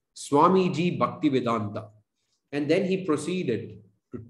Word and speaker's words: Bhaktivedanta: introduced him to my class he said swamiji bhaktivedanta and then he proceeded to tell tell me